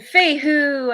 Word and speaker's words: Fehu: Pronunciation Fehu.